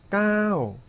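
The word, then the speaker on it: เก้า: bad, bad 하고 일성으로 발음하시고 자, 이어서 숫자 9는요. 까오, 까오 하셔야 되거든요.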